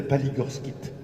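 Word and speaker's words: palygorskite: blanche qui s'appelle la paligorskit pour ceux qui veulent noter ça s'appelle ça s'écrit comme ça se prononce c'est pas League of KIT et bien cette argile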